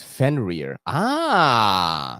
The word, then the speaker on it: Fenrir: We got YouTube pronunciation lady says Fenrir.